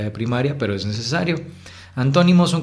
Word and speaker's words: antónimo: Les pongo el ejemplo con esa palabra: antónimo. Así pueden distinguir fácilmente cómo en to es como si subiera, ¿no?